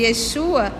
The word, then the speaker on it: Yeshua: E aí Jesus disse assim, hoje Yeshua entrou na sua casa, porque Jesus e Yeshua é salvação, a pronúncia é essa.